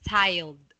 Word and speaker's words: tiled: such patterns Dutch yeah let's pronounce this as tiled with D tiled the dead child